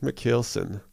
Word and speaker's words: Michielsen: last name I always fear that I'm gonna pronounce it wrong McKell Sam Nicholson Luke mikheil s'en so I think the first time I remember